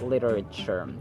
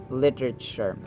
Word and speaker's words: literature: the second syllable where Actually t is pronounced as d sound to sound like an American speaker literature literature or literature literature